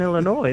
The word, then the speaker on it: Illinois: That's like pronouncing the s in Illinois.